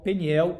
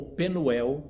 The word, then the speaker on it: Peniel: Diz assim: "Aquele lugar chamou Jacó Peniel ou Penuel, como as duas pronúncias estão corretas, pois disse: "Vi a face de Deus e minha vida foi salva".